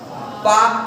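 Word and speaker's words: Palk: तो पाल्क में डियर यल साइलेंट हो जाता है, तो इसी को उन्हीं के नाम पर यहाँ पर खाड़ी का नाम दिया गया, पाक की खाड़ी या पाक खाड़ी। तो पाक खाड़ी और मन्नार की खाड़ी को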